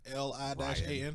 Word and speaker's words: Lian: I thought, I yeah, went I thought it was to- Lion. Yeah. I went to. It is like phonetically, it's Lian with like accent marks.